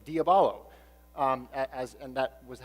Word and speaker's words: diabolo: Civilization which is actually diabolo it's a Greek word diabolo and that means to